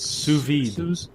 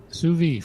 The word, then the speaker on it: sous vide: This is, I can never pronounce it, but it's sous vide. Sous vide, French for under vacuum.